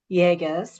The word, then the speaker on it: Yagos: 25year-old Jennifer Jagus rhymes with Vegas.